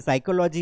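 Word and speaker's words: psychology: यहाँ पर देखिए, ये वर्ड तो ना, ये वर्ड तो हमें बचपन से दुख दे रहा है, आगे पी लगा दिया और पढ़ते हैं, इसे साइकोलॉजी है।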